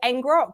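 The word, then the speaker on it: ngrok: go around this is called engrock which is spelled n g r o k they have a free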